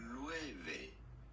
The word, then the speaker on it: Loewe: But let me get the right pronunciation. Loewe.